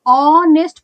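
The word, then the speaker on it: honest: यह ऑनेस्ट पढ़ा जाता है।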